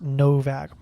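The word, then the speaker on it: Nowak: I think it's with a W. Typically this last name is pronounced with a V. Yeah, Austrian. Austrian. So I'm all but certain his last name is pronounced Novak.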